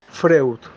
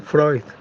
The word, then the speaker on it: Freud: pero en otros países de latinoamérica le dicen Simon freut también es válido porque el nombre este si uno lo ve en español lo leemos en español es Simon freus claro uno lo quiere pronunciar como se pronuncia en la lengua original de Simon Freud bueno siguiendo con esto